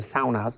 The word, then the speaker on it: sauna: in Finland, 2.5 million saunas, not saunas, you pronounce it saunas. Saunas is sauna. So that's basically... It's a Finnish word that we've all been saying We butchered it, yeah.